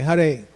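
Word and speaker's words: Hare: with a certain quality first word har every everybody say huray but not everybody says huray every day I hear somebody saying Hur like in Harry Potter or hurry like in the lord's name meaning he's the one who takes away it's not har Krishna and it's not har Krishna it's har Krishna so haray first word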